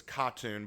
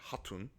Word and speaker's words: Khatun: I know it says katun but in the Mongolian the K is silent it would be haton so we have this